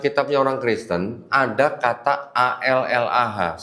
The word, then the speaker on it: Allah: Tetapi di dalam kitabnya orang Kristen ada kata A-L-L-A-H. Saya bacanya Allah Pak ya. Karena nggak ada tasdid Pak, jadi saya baca Allah Pak.